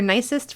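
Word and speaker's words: gneiss: all right so saving the nice fur or nicest for last we come to nice yep that's how you pronounce it and it has a really nicely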